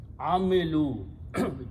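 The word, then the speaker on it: عَمِلُوا: Again, in order to pronounce with the waw, this lam has to be changed to a dhamma. Amilu, they did.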